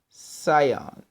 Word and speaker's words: Sion: patreon now you have the prior of Sion and not Zion Sion okay let me spell that for you p r i o r y of Sion s i o n all